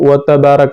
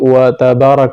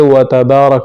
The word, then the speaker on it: تبارک: اللہم وبحمدک وتبارک اسمک۔ لوگ اکثر اس کو وتبارک اسمک پڑھتے ہیں جس کی وجہ سے تا پر شد آ جاتا ہے، حالانکہ یہ وتبارک اسمک ہے، تا کو ہلکا سا